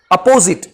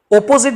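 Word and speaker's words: apposite: देखिए, प्रोनाउंसिएशन में अपोजिट, अ का एक प्रोनाउंस आता है, और ओपोजिट जब बोलते हैं तो ओ का प्रोनाउंस आता है।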